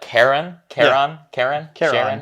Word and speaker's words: Charon: We looked up the correct pronunciation here, but Charon, looks like Sharon.